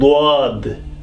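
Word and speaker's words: ض: This pair, swad and dwad, swad and dwad.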